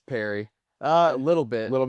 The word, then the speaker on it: Pare: I'd probably say Pare. Pare. Yes. You're not French? It's Perry.